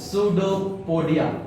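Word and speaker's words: pseudopodia: लेता है जिसको बढ़िया अंग्रेजी में बोलते हैं सूडो पडिया ठीक है स्पेलिंग भाई याद रखना पी एस ई यू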